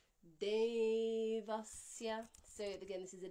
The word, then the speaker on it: Devasya: Dental D, followed by an aspirated dental D. Dhimahi. Long E followed by short E. And this Devasya, I forgot to say that this E is a 2-count vowel and the A is only a 1-count vowel. So it's Devasya, not Devasya or Devasya. You can hear the difference between Devasya and Devasya.